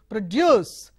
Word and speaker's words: produce: look at another example produce produce produce so if it stress is on the first syllable is a noun and the stresses on the second syllable juice it is a verb now look at another